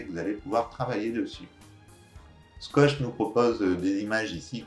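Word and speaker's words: Squoosh: Donc le logiciel se nomme Skosh, ça s'écrit S-Q-Q-O-O-S-H.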